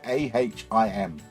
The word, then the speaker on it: Ahim: It's spelled A-H-I-M. It sounds Amish. We're going to go Ahim.